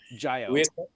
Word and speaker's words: Jiyo: I believe I'm pronouncing it correctly. And Yeah, Jayo, Jiy. Yes. Jayo.